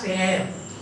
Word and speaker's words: heir: Last heir. H is silent, last heir.